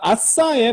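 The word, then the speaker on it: עשה: 자, 왜 마테르로 오해했을까라고 생각하면 보시면 이게 자, 아싸의 마지막 헤이, 파이널 마테르, 헤이 같은 경우는 무조건 얘는 마테르죠. 단어 맨 마지막에 나오면 마테르예요. 헤이 발음하지 않습니다. 아싸로 발음하죠.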